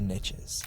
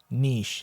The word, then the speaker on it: niche: In the agency world, there is a saying, the riches are in the niches. Even though that's not how you pronounce niche, it's pronounced niche, guys. It's French.